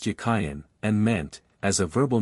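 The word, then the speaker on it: Jachin: in Hebrew is Hebrew it was probably pronounced yayan and meant as a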